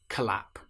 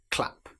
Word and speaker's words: clap: If we're using the word clap, we certainly don't want to say collap. It's clap.